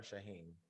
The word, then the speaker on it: Shahem: pronouncing your name right it's shahim or shaheen shaheen shaheen okay let me put that